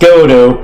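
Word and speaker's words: Godot: Oh, it's pronounced Godo, but spelled with a silent T, sir.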